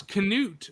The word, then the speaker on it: Canute: Yeah, and then again, it's like, because Canute is how it's actually pronounced, is an actual, like, you know...